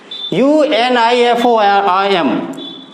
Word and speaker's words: uniform: Third is given यूनिफॉर्म, UNIFORM, uniform. So first letter is U and pronunciation is Y.